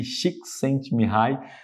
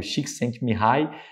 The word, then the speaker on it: Csikszentmihalyi: Esse nome complicado, deixei até como se pronuncia aqui, Csikszentmihalyi.